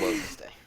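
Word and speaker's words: Wednesday: what it's actually wen's day what it's definitely wen's day no it's wedness day you people no W didn't say is what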